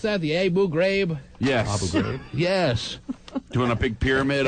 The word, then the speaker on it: Abu Ghraib: I do have that in my little It's like the Abu Ghraib prison, or the how do you pronounce that? The Abu Ghraib? Yes. Abu Ghraib.